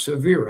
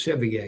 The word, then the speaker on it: Sevier: I already learned how to pronounce Severe. I thought it was Sevier. It's severe.